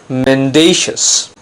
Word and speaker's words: mendacious: it's not men - as its mendacious if it refers to a person it means dishonest untruthful deceptive for example mr.